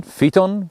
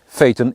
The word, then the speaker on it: Phaeton: phaeton should have been from the start phaeton pheton phyton it's pronounced phaeton you're welcome you can subscribe and give this